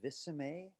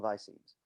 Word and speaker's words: visemes: I've heard some people call it visceme. It's really hard to get an answer on how it's pronounced, which I think is kind of funny because it's really about the mouth shapes that match how we pronounce things. So it's funny that people are not sure how to say it, but I'm going to call them visemes.